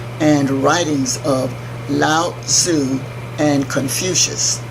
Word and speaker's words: Confucius: by the teachings and writings of lao-tzu and Confucius spelled co n if you see I us